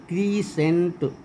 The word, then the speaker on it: crescent: क्रीसेंट, CRESCENT। डिसेंड, DESCEND। Disciple, DESCIPLE। Science, ये तो सब लोग जानते हैं। एस के बाद सी रहता है, सी का उच्चारण नहीं होता।